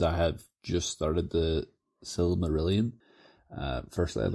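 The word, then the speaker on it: Silmarillion: have just started the S merilon uh firstly I'd like to apologize CU I I've mentioned that book before and absolutely butchered the name um which I I know is now the s merilan that it's it's a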